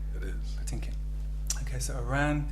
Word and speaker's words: Patinkin: Is that the correct pronunciation? It is. Patinkin.